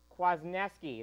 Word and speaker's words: Kwasniewski: you're going to love our guest tonight dylan kwasniewski is how he pronounces his name he'll be calling in just